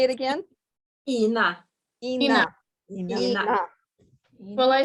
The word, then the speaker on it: Ina: Okay, do you pronounce your name Ina? Ina? No, it's Ina.